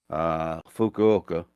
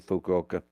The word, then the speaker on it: Fukuoka: to take it into Fukuoka, which, by the way, sounds a lot like "fuck you, okay." I got a Hard Rock T-shirt from Fukuoka, and always when people